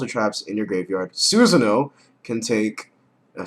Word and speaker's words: Susanoo: Or how retards pronounce it. Suswano. But yeah, it's Susanoo for all you freaking idiots.